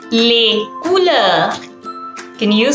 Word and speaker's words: couleurs: We say les couleurs.